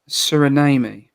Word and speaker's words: Suriname: i was born in suriname sorry correct born in suriname where is that it's like surname but with an eye yeah if you don't